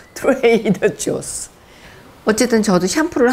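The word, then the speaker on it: Trader Joe's: 트루아조가 아니고 트레이더 조스.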